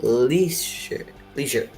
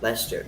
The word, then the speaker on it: Leicester: to try my best it's called like least leisure i'm gonna call it leisure yesterday lester lester that's the name anyways the new leicestershire